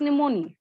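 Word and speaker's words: pneumoniae: ई लगा देना है, पी साइलेंट होता है इसमें, यस मैम। PNEU MONIA और ई लगा दीजिए लास्ट में, स्ट्रेप्टोकोकस निमोनी, ठीक।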